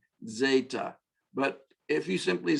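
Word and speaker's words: ζῆτα: Epsilon, nope, sorry, epsilon, zeta, this is our Z sound, our Z sound, zeta, actually, to be technically correct, DZ, soft Z, zeta.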